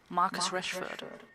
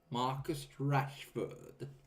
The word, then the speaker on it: Marcus Rashford: This is how you pronounce his name. Marcus Rashford. Marcus Rashford.